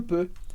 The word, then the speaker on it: peu: Peu, que é EU, mas o som é simplesmente E, que é um som que a gente não tem no português, mas a gente pode